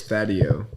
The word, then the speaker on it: Thadieo: Because I was trying to pronounce yours earlier. I was looking at your Instagram. So it's Thadeo. Thadeo? Yeah, Thadeo. People fucking say it the yes. weirdest Yeah. ways. Thadeo.